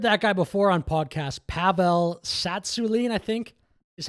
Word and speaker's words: Pavel Tsatsouline: Pavel Tsatsouline, I think, is how you say his name.